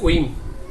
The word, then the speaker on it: whim: এভাবে আরো কিছু ওয়ার্ড আছে, যেমন উইম আছে, উইম, WHIM, উইম।